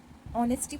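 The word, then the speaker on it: honesty: ऑनेस्टी पढ़ते हैं। एच यहां पे क्या होता है? साइलेंट होता है। तो इसको पढ़ते हैं ऑनेस्टी।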